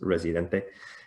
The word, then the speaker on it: Residente: the word resident right like resident but then with uh with an e at the end so in spanish it's pronounced residente and it's by this